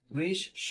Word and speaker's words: গ্রীষ্ম: খেয়াল করো, বৃষ, তারপরে স, গ্রীষ স। দেখো স এর দুইবার উচ্চারণ হলো।